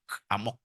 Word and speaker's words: amok: Bacanya mesti emak, amok.